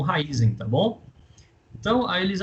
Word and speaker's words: Raízen: na raize Tá bom é só falar raizen raiz em Raízen já ouviu um pouco de tudo Tá mas eu conheço a pronúncia como raiz em Tá bom então aí